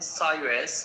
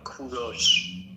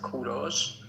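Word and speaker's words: کوروش: English people call him Cyrus, but in Persian we call him Kuros. In Persian it is pronounced Kuros, but in English you call them call him Cyrus.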